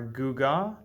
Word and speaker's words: gewgaw: life these words are guga sought capricious ostentatious and miasma so without further ado let's begin our first word is guga pronounced gu ga two syllables guga is a noun